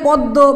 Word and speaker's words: পদ্য: জফলা শব্দের মধ্য বা শেষ বর্ণের সঙ্গে যদি থাকে এবং জফলা যদি শব্দের মধ্য বা শেষের বর্ণে থাকে তাহলে জফলাযুক্ত বর্ণের উচ্চারণ দ্বিত্ব হবে, মানে দুইবার হবে। সেক্ষেত্রে কি করতে হবে, যদি এরকম থাকে পদ্য বা গদ্য বা কথ্য তথ্য, যদি এরকম থাকে প্রত্যেকটি ক্ষেত্রেই কিন্তু আমরা জফলাযুক্ত বর্ণকে আমরা দুইবার উচ্চারণ করেছি।